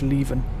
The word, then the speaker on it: Leven: It's pronounced Leven.